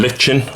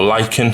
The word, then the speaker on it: lichen: So, I've got here is uh some lichen or lyken, however you want to pronounce it, and uh just add a few bits kind of here and there.